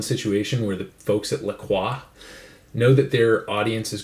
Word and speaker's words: La Croix: First, we have a can of unflavored La Croix, or some people know it as LaCroix. That'd be the American pronunciation. I'm half French Canadian, so I have to say it, La Croix.